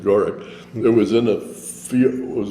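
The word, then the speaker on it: Gourock: In Gorrick, Scotland, Gorck. Okay. That's the way they pronounce it, Gorrick.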